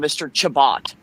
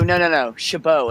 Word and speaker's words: Chabot: well it is but it's spelled c-h-a-b-o-t and people will call him mr chabot and he'd go no no chabot and then he just gave up he said it all the time so usually with the french ot on the end is oh like chabot well i was i